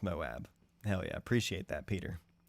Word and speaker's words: Moab: Moab, it is pronounced Moab.